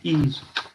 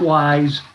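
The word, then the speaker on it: Ys: It's pronounced ease, not wise. You know, people have a smart ass and will say wise. It's not.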